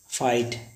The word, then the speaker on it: fight: आए या जीएसटी आए तो इसमें जीएस हमेशा साइलेंट होता है। जैसे लिखा होता है हाई, HIGH, हाई का अर्थ होता है ऊंचा। फाइट, FIGHT, फाइट का अर्थ होता है युद्ध।